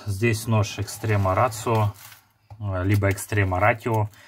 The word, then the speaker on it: Extrema Ratio: Значит, здесь нож Extrema Ratio, либо Extrema Ratio, смотря по какому языку вы читаете. Extrema Ratio фирма итальянская, и по-итальянски читается Ratio, хоть там и пишется буква Т, Ratio.